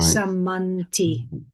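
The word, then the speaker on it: sammanti: They're both heavy syllables because the short vowel followed by a double consonant, but the vowels themselves are short. So samanti. Right. Samanti.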